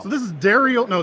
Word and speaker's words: Darriel: it Daryl or Dariel it's uh Dariel if you're a French woman is Daryl for everybody else so this is Dariel no Daryl cast how are you